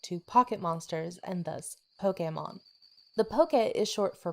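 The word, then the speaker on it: Pokémon: that sounds like poketo the japanese pronunciation gives the slight differentiation between the o and the e stress which is why many fans cringe at the pronunciation of pokey man capsule monsters was initially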